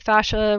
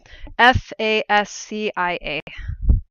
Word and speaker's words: fascia: hear it called that there's some yeah split in how we pronounce it but they'll say like